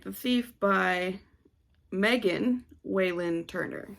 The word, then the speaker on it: Megan Whalen Turner: right the thief by megan waylynn turner that is her name megan not mary megan whalen turner um i